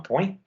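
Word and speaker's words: poing: Le G muet comme dans point.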